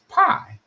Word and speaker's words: Phi: the story of, and I would always pronounce that PHI, at least how I've always heard it growing up, as pie, right? Maybe it was phi, but I'm sure it was like pie, like pies that you eat.